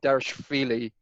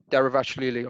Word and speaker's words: Dvalishvili: Merab Dvalishvili of Georgia. I've got to say, Merab Dvalishvili. How do you say it? Derivashvili or something like that.